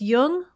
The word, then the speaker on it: Jung: in just be sure to pronounce jung with a hard j so with special thanks